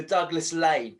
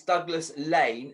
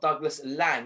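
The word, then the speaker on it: Douglas Laing: And I should point out it's Douglas Lane, not Douglas Lang, which I actually have been pronunciating it. And I just asked Stuart beforehand what the correct pronunciation was. And yeah, he did point out it was Douglas Lane.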